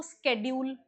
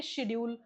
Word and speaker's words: schedule: SCHEDULE, इसको बोलते हैं, या तो आप बोलेंगे इसको स्केड्यूल या फिर आप बोलेंगे शेड्यूल, दोनों सही हैं। क्या बोलेंगे, या फिर आप बोलेंगे, ये दोनों शब्द सही हैं, ठीक है, दोनों प्रोनाउंसिएशन सही हैं।